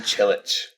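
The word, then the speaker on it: Čilić: player whose name you're going to have to pronounce. Churik Marin Chilich.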